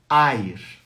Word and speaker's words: Eir: nome dela, se escreve E-I-R. Eu estou escrevendo de baixo para cima, tá? E-I-R. Air em alemão, Eir em línguas escandinavas.